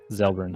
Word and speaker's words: Xelbrins: His last name is Xelbrins. Ah. Zelbrins. I used Miros a Zelbrins.